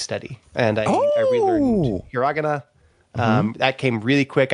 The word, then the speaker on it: hiragana: It's hiragana. It's you. You You emphasized the wrong syllable, John. You said hiragana.